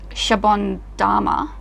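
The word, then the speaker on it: シャボン玉: I'm just going to Shabon Dama. But there's no... It's Dama. Dama. It's Dama. Japanese. Oh, it's Dama.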